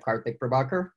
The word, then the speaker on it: Karthik Prabhakar: rather than have people try and struggle with pronouncing my name correctly I sometimes jump in and say hey that partly pravakar it is a little bit of a mouthful